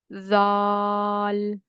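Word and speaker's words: ذال: And you will make this Z sound by putting your tongue under your upper teeth and you will say it. This will be Z. Zal. So this is the way to pronounce this alphabet. So here we avoid pure Z sound because when we pronounce Z alphabet there is little bit whistle sound. So again in this letter we avoid whistle sound and we try to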